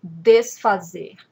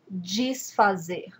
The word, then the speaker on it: desfazer: I was saying desfazer, but you will also hear people saying desfazer. So you see the difference? Desfazer, desfazer. This happens with lots of words that begin with this. It's just different accents, different ways of pronouncing the word in Brazil. Both ways are correct.